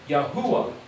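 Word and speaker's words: Yahweh: So you could say, well, say the word Yahuda minus the D, you end up with Yahwh.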